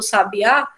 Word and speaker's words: sabiá: Quando a gente tem no sabiá, essa palavra aqui é uma oxítona. A última sílaba é a sílaba mais forte.